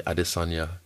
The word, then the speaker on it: Adesanya: So you even say it properly, Adesanya.